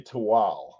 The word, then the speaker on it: Tehuatl: No, it's actually Tawal. Even Tawal. though it is spelled Tehuatl, you would be inclined to call it Tehuatl, but it's actually Tuwal. The TL is not a total sound, and the language is